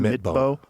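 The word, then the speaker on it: Midtbø: Midbow.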